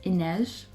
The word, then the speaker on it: Inej: this second book, and I was informed that like her name is Inej, so, but I'm gonna keep pronouncing Ine because I'm just used to pronouncing it by now. I'm so sorry if people are like, oh, it's pronounced Inej, no, fuck off. I'm pronouncing it Ine because I don't believe they should pronounce the J.